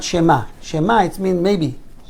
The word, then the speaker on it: שמע: So I would say Shema and not Shema. Shema, it means maybe. Shema, you have to pronounce the ayin.